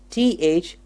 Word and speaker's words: through: Let's look at T-H-R-E-W, threw. Yes, he threw the paper. And T-H-R-O-U-G-H, through. He went through with his plan. 2 different spellings, but the same pronunciation.